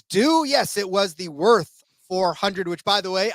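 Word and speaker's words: Würth: As we always do, yes, it was the Worth 400, which, by the way, I pronounced it correctly. Thank you very much. Bratwurst. I figured I had to be at least 75-25 right on that one.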